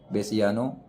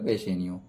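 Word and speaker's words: Bassanio: लांसलॉट lives साइलाक to become hose servant, गब्बो, बेसियानो, Antonio, Jessica. तो बेसेनियो क्या हो जाएगा, बेसेनियो।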